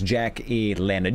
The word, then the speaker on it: Jack E. Leonard: I've been saying his name wrong. So, oh boy. I was saying Leonard E. something or other. I was getting no, it's not. It's Jack E. Leonard.